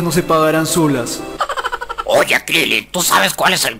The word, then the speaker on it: Krillin: Eso le pasa a Kuririn por descuidado. Pronuncia bien analfabeto, se dice Krillin.